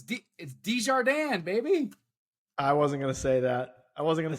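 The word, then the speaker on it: Desjardins: like he was halfway decent I know it's dijardin baby I wasn't gonna say that I wasn't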